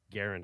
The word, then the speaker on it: Garand: You say Garen? Is that how you say it? I always just said Yeah. Grand because fucking Call of That's Duty. that's what everyone says, and that's how the way I said it. And then I was watching a documentary once, and this historian said Garand, and I was like, you know what? That's exactly the way it's spelled.